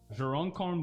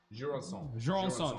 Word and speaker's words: Jurançon: Jurocon Blanc. Jurançon. Yeah, my pronunciation is so bad.